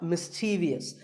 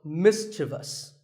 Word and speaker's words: mischievous: in the word mischievous this is not mischievous there is no I after the V the last syllable is just thus so mischievous and then there are